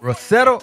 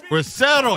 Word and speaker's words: Rosero: Right there, I Like You featuring Rosero. Did I say it right? Rosero. Rosero. You got a roll it off.